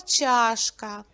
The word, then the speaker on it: чашка: голосний звук а черепаха слово чашка два Склади і наголос падає на перший звук а поміж листя оксамиту